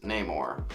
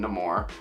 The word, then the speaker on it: Namor: villain of this movie is Namor or they also pronounce uh his name Namor but they pronounce they pronounce it both ways so honestly pick and